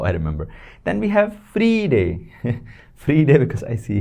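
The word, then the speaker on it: Freitag: but that's how I remember then we have free day free day because I see here Friday it's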